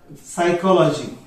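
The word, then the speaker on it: psychology: सायकोलॉजीचं spelling काय पी ने सुरू होतंय, जसं हे टी ने सुरू झालं उच्चार मात्र सु ने सुरू झालं. तर मग या ठिकाणी हे पी जे आहे ते सायलेंट झालं.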